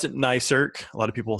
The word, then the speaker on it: NICERC: And we pronounce it NICERC. A lot of people say NICERC, NICRIC.